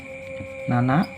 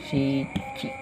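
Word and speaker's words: 七: Kanji angka 7 dengan cara baca adalah nana atau bisa juga dibaca shichi.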